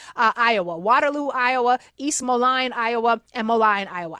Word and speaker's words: Moline: Water Iowa, East Molion, Iowa, and Molion, Iowa. I think I might be pronouncing Moline. It's M O L I N E. Apologies to Iowa if it's wrong.